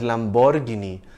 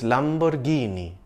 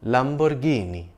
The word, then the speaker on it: Lamborghini: It's an Italian brand and that's how Italians say it, Lamborghini. It's named after its founder, Ferruccio Lamborghini. Note that the stress is on the second last syllable, Ghee, Lamborghini.